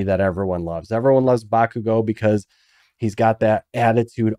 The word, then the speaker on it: Bakugo: Again, I love the trio, the Deku, Shoto, and Bokugo. Bakugo or Kachan.